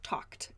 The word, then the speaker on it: talked: is not talking but talked talked as a t sound so this is also